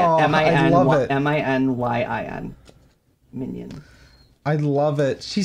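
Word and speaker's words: Minyin: Minion.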